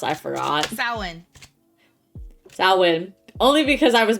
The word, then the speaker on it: Samhain: How is it actually pronounced? I forgot. Samhain.